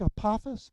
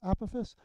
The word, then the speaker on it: Apophis: It looks like Apophis, but it's pronounced Apophis.